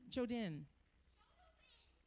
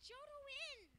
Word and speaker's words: Jodin: Jodin. What? It's pronounced Jodwin. Okay, thank you.